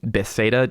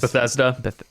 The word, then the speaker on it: Bethesda: of it uh and bethsaida used to do one but best day does bethesda yeah yeah yes bethesda does the more popular pronunciation uh and probably the correct one chris thank you i've